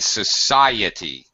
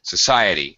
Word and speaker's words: society: Christ but crisis and Society Society Society Society that's it the stress was not right Society it's a problem for